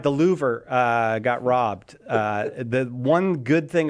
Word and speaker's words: Louvre: Rhymes with doer. Louvre.